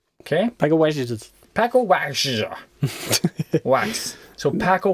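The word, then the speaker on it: Pako Wacz: but his name, Paco Wax, is spelled P-A-K-O, Paco, and then Wax. And Wax is W-A-C-Z. Okay? Paco Wax.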